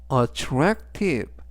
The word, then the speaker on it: attractive: attractive attractive라고 발음하시면 되겠고요 이때 강세는 중간 부분에 있는 a 강세가 있습니다 그래서 attractive 라고 하시면 좋겠고요 품사는